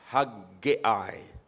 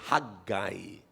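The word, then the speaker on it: Haggai: I don't know if you have uh uh if your Bible is self-pronouncing, meron mapo-pronounce niyo ng tama. Pero sa dictionary, mga kapatid, pwede naman yung haggiay.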